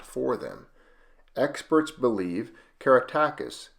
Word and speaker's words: Caratacus: for them experts believe keratakis means beloved teacher and may have been pronounced karatarkis a proposal corroborated by